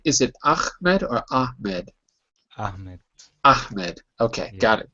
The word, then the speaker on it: Ahmed: Am I pronouncing your name correctly? Is it Ahmed or Ahmed?